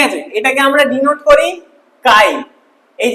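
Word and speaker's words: χ: কাই, ছি নয়, ঠিক আছে, ছি ছি উচ্চারণ করবেন, এটা কাই, ঠিক আছে, গ্রিক ওয়ার্ড কাই। অনেকে আমার স্টুডেন্ট আছে বলে স্যার কি লিখছেন, ছি, ছি নয়, এটা কাই।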